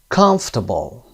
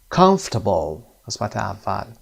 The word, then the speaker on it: comfortable: underline the stressed syllable comfortable comfortable first syllable adapter adapter second syllable